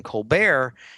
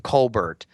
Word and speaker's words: Colbert: that he could just use the french pronunciation of his name to make himself extraordinary so henceforth he called himself stephen colbert instead of stephen colbert his father was the